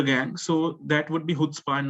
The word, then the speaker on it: chutzpah: Chutzpah. It actually, you pronounce it using the H sound at the end, at the start.